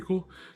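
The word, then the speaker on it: CeWL: cool so it's spelled it's pronounced cool but it's spelled c e w l basically cool was a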